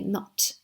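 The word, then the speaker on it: nought: So you can say not in British English instead of 02. It's not spelled as N-O-T, as in not. It's spelled as N-O-U-G-H-T, not.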